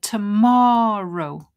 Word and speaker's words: tomorrow: So here, tomorrow, tomorrow, tomorrow. So I'll cross that one. The stress is on more.